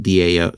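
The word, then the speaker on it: Tao: Dallas T AO I S the DAO D AO T AO is pronounced like a DAO.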